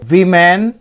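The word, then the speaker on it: women: डे एक दिन टू वमन came to him demanding justice एक दिन दो महिलाएं इसको हम वीमेन पढ़ रहे हैं ना वीमेन इसका जो विश् उच्चारण होगा ना यह ऐसे होगा वी मेन ठीक तो दो महिलाएं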